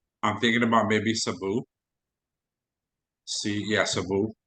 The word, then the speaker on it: Cebu: Cebu. That's how it's pronounced.